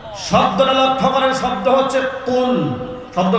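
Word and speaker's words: قل: শব্দটা লক্ষ্য করেন, শব্দ হচ্ছে কুল। শব্দ কি? কুল। এটা কফ উচ্চারণ করতে হবে।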